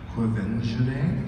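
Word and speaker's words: Quvenzhané: I'm gonna get this name wrong, so you're gonna do it for me. The film recently it was. It's Quevenjane?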